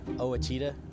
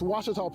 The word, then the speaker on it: Ouachita: Back in Texas, everybody pronounces it Wichita, but really, it's Ouachita. Washita. Washita. How would you pronounce it? Washita. Washita. It's Ouachita Baptist University. Get it right. It's Washita, people.